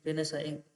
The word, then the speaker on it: Renaissance: Early रेनेसा, spelling देखो ध्यान से, RENAISSANCE, रेनेसा, अर्ली रेनेसा.